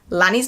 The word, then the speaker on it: Lani: In the foreword, she spends a paragraph telling us how to pronounce Lani's name, Annie with an L, and how she wasn't